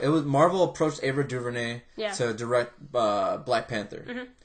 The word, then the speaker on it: DuVernay: Ava DuVernay, or how do you pronounce her Ava name? DuVernay.